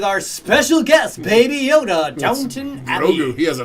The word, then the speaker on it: Downton Abbey: What did I do wrong with Downton Abbey? You probably didn't spell it correctly. Did I spell it wrong? You said Downtown Abbey. I said Downtown Abbey? You did.